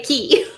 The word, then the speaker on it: Cay: say K because it rhymes. That's But right. some people get downright grumpy if you say key.